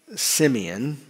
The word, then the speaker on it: Simeon: His name, we pronounce it in English, Simeon. But in Hebrew, it would have been more like Shemaian.